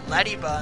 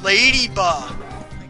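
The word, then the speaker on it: Ledyba: Just like how I used to always say Lediba, and then people are yelling, it's pronounced Ladyba! But it's an E, not an A. I don't care, it's Ladyba!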